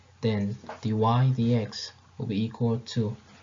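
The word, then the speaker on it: dy/dx: you have here, then dy dx this is pronounced dy dx, which means the rate of change of y with respect to the rate of change of x.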